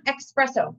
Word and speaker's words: espresso: It's not espresso. Unless it's like a really quick thing that you're doing here, it's espresso. E-S-S-P-R-E-S-S-O, if I spell that correctly.